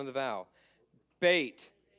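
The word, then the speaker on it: בית: sound of the vow bait B sound gimo G sound hard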